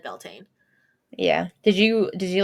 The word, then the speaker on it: Beltane: Wikipedia like pronounces it Beltane yeah like Britannica a few different YouTube videos too and they all said Beltane yeah did you did